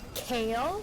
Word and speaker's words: Kayle: You know, there's Vi and Kale, which in fact is spelled like Kaylee.